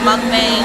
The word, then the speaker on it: mukbang: That's how you say it, a mukbang.